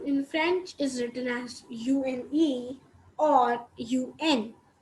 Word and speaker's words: une: And so 1 in French is written as UNE or UN. UNE is pronounced as une, which is one only, and UN is also pronounced as a.